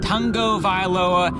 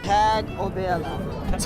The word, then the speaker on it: Tagovailoa: Basically, I asked tourists, some locals, if they could say that name, Tagovailoa, and it went about as well as you expect.